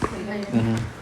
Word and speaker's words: Leiden: But in, how do you pronounce this? In Leiden. Leiden.